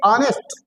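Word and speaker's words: honest: आप देखिए ऑनेस्ट ऑनेस्ट। अब इसको हमने किससे लिखा? गौर करेंगे तो पाएंगे एच से। गौर करेंगे तो क्या पाएंगे? एस से। लेकिन हम इसको ऑनेस्ट नहीं पढ़ रहे हैं।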